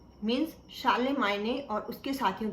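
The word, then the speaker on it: Charlemagne: Actually आप यहाँ पे स्पेलिंग्स में इसको पढ़ेंगे चार्लेमैग्ने, और शानसून जिसे मैं बोल रही हूँ एक्चुअली चैंसन दी जस्ट है।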